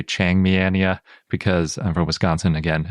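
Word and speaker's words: Changmiania: point out even though it's probably best pronounced chang miyennia or changmianya depending on which part you latinize versus leave chinese i'm probably going to say chiang miania because i'm from wisconsin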